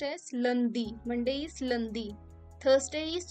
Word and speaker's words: lundi: So Monday is pronounced as lundi.